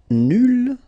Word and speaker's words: nul: Nul will become nul. So phonetically it's the same, but then you double the L and you put at the end. Okay, so nul and then nul. Phonetically it is the same thing.